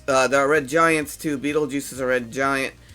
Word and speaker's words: Betelgeuse: That's how you pronounce it. It's Beetlejuice, but it's, Oh, that's weird.